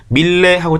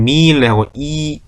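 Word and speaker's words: Miele: 옆에 미일레라고 돼요. 밀레하고 짧게 있는 게 아니라 미일레하고 미일레 길게 발음되면 됩니다.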